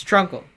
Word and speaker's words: Trunkle: It's Trunkle. Look at all the things Trunkle rhymes with. Uncle Drunkle Trunkle.